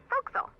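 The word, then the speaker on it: forecastle: voxel why is that try pronouncing it like an english sailor with no formal education faux castle foxel overtime it whittled down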